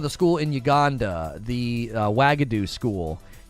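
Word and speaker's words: Uagadou: she's talking about the school in Uganda the wagadu school it's carved into the mountain and they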